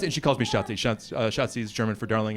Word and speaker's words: Schatzi: Schatzi is German for darling. It's the first German word I learned. It's easy to remember because it rhymes with Nazi.